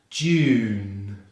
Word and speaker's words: June: June starts with the same J consonant sound as in January, followed by the long vowel U as in tune. Then we end on the nasal N consonant. So we have June, June. Notice there's an E at the end of June, but this is actually what we call a